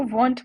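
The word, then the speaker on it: won't: अब एक चीज मैं आपको बता देती हूँ कि विल नॉट को आप इस तरीके से भी लिख सकते हैं, इसको वॉन्ट प्रोनाउंस करेंगे।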